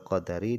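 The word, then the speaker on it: قدر: Dan aku beriman dengan hari akhir wal qadari dan beriman dengan takdir bifathidal. Cara bacanya adalah dengan dibaca fathah huruf dalnya qadar.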